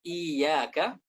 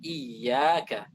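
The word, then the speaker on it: إِيَّاكَ: Agar suara iya itu benar-benar diucapkan dari tengah lidah, tidak seperti mat, tidak iyyaka, maka kita butuh tekanan. Kita baca iyyaka, iyyaka, iyyaka, iyyaka.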